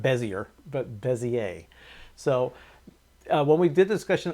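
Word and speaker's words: Bézier: that we have we were explaining about the busier curves that's how we actually pronounced it I I was informed by the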